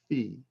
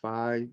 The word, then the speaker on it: Phi: and that's represented by the Greek letter Fe Phi some pronounce it fi the proper pronunciation in Greek is Fe and uh you get